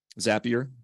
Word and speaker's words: Zapier: Uh what I'm going to do is go to uh the Zapier website. Zapier, it's easy to remember. It rhymes with happier.